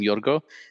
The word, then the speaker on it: Yorgos: Um I saw a video of her online where she called him Yorgo, no Yorgos, because the S is silent.